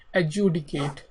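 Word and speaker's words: adjudicate: हमारे पास वो है एडजडिकेट ठीक है तो प्रोनंसिएशन की जैसे इसमें डी को एक तरीके से साइलेंट किया जाता है लेकिन इसको मोस्टली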